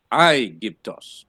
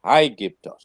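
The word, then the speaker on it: Αἴγυπτος: I give toss and the accent on I give toss comes also on the iota so it's I give toss I gift us I give to us and it's not if it had to be the rough either it would have been high gift right you all understand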